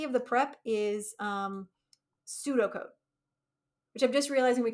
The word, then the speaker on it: pseudocode: of the prep is pseudo code and the in English if you're not an English speaker English is weird um it's a silent P so when we say pseudocode what we mean is